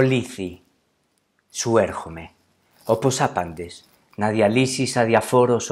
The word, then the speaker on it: Λήθη: al principio del poema, es la forma griega para decir olvido, lithi, o en español lethe o lete, dependiendo pues de cómo se pronuncia.